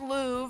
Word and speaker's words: Louve: pup by the way it's pronounced Lou for anyone who's wondering I am Lou um I transferred about